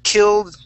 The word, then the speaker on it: killed: okay killed okay we're going to be ending on the D so we want our tongue to say killed so it's gonna end